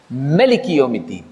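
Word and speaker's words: ملك: لیکن جو ایک دوسری قرأت ہے ورش، اس میں اس کا تلفظ ہے ملک. ملک یوم الدین.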